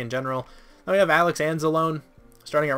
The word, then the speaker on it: Anzalone: linebacker I've always died I thought it was pronounced Anzalone II I could be wrong but I'm just gonna say ends alone and I feel like that's how I've heard it pronounced at least more recently